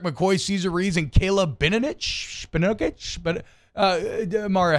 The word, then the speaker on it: Benovich: Calvin Throckmorton, Eric McCoy, Cesar Ruiz, and Caleb Benovich. But Mario, how do you pronounce it? I believe you had it right the first time, Benovich.